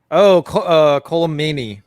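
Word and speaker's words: Colm Meaney: Colomani. Yeah, that's how you say his name. Mm-hmm. I always pronounce those names wrong.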